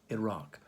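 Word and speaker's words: IRAC: questions is iraq no not the country not spelled like the country i r a c iraq hmm now why let's go look at issue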